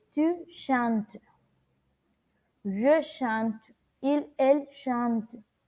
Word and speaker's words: chantes: Debemos tener en cuenta que al momento de pronunciar estos verbos, no pronunciamos las terminaciones de ellos. Es decir, si yo pronuncio el verbo chanter avec le pronom tu, on ne dit pas, no decimos tu chantes, no. On dit tu chantes.